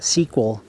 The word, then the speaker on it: SQL: different names Microsoft uses SQL pronounced sequel databases my sequel which